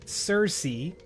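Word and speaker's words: Circe: and the two books one is named Cersei that's spelled c i r c e and the other is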